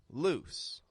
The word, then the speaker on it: loose: in the vowel and it goes straight into an S loose now this gets tricky